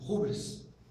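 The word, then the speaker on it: ὕβρις: Rubris. A pronúncia é um H. Um H com som de R. Rubris.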